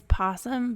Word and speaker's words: opossum: It is possum, but it's spelled with an O.